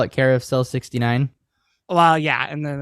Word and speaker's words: Care of Cell: word Carousel but it's care of cell cell being like a prison cell which is why it's